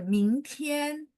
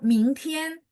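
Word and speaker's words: 明天: Contoh, 明天. Oh, dia cara bacanya begitu ya. Ming berarti 2. Tian, oh, tian 1.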